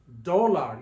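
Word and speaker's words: dólar: on the o because we need to stress the O when we pronounce it dollar dollar and when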